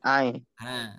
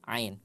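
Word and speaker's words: عين: ini iya paham enggak aah huruf yang itu namanya adalah Ain Iya Ain namanya adalah Ain nama hurufnya bukan a bukan bukan tapi Ain Ain ketika huruf Ain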